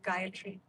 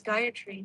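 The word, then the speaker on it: Gayatri: our purposes you know guyatry is pronounced a little differently than you might hear it uh on YouTube. Uh normally people will pronounce ora yeah don't do that. Three separate and equal syllables.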